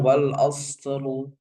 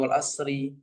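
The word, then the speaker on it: والعصر: Misalkan wal asru wal asru wal asru bukan wal asri ya kebanyakan kita bacanya wal asri innal insana itu salah.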